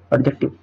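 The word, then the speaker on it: adjective: एडजेक्टिव, एडजेक्टिव D silent होता है, एडजेक्टिव विशेषण बोलते हैं।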